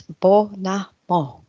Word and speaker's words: Bonomo: And I think I got it right because Tina actually told me how to pronounce it. So, I apologize for making a mess of it last week, but it's Bonomo.